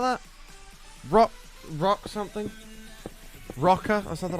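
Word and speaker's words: Roka: It's spelled R-O-K-A. Rocker. There's one in Mayfair, Canary Wharf, Charlotte Street.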